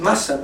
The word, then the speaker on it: mustn't: know just like this it mustn't like that T is silent so there's like em